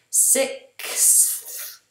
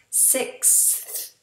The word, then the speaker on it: sixth: even for us natives, because we have a big movement of the tongue. We first have sick, and that's the K, sick, s, and then we have this S and to a TH, six. It's three big movements for the tongue. The back of the tongue, the front of the tongue, then the tongue through the teeth.